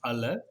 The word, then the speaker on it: aleph: contain the name of the letter is pronounced as aleph and vocalized differently it